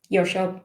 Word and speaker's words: WCAG: And the best thing about WCAG is that no one knows how to pronounce it. So you have different ways. WCAG. Or your shop, which is great.